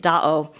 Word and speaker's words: Da'o: Lake Tahoe is actually a mispronunciation of the Washoe word for lake, Da'o.